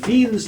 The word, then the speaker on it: Wien: This equation, the two different forms of this equation, is called Wien's law. W is pronounced with a V because he was German.